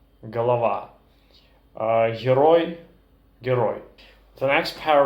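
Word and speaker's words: голова: gu in russian for example horrid gorod Halawa galava hiroi hiroi the next pair of sounds that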